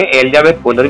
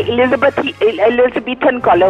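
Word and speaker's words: Elizabethan collar: एलिजाबेथ कॉलर नहीं होता है एलिजाबेथन कॉलर होता है. आपको तो प्रोनाउंस करना भी नहीं आता.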